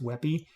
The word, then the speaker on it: WebP: a wey it's called Web PE but it's pronounced wey because both of these um will always have